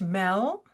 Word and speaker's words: Merle: I pronounce it Mel. It's Mel.